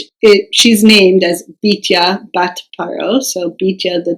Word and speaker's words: Bityah: Really, the correct pronunciation for it would be Bityah, but because in Chronicles it says Bityah, well, there's a whole bunch of discussion around whether it should be Bityah or Bityah.